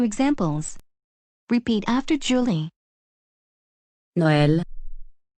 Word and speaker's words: Noël: They are used to give the vowel a separate pronunciation from the preceding vowel. Let's look at 2 examples. Repeat after Julie. Noël. Noël.